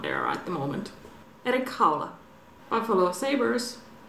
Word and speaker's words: Erik Haula: Erik Haula.